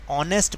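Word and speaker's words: honest: My father is, एन आएगा क्योंकि एच जो है वो साइलेंट है, ऑनेस्ट बोलते हैं इसे, ऑनेस्ट पर्सन, इसलिए एन लगाएंगे।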